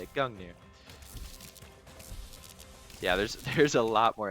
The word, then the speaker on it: Gungnir: Okay, now let's grab this Gungnir. Yeah, that's how you say it. Gungnir.